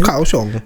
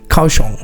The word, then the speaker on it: Kaohsiung: So did you say Koong? Kawosong city. Yeah that's better.